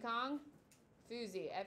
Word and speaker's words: Kong Fuzi: Kong, Kong like King Kong. Fuzi, Fuzie. Kong Fuzi.